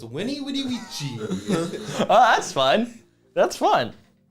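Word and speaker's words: veni, vidi, vici: written I'd be like veni vidi vici yeah but in Latin these are pronounced W so it's Winnie Woody oh that's fun that's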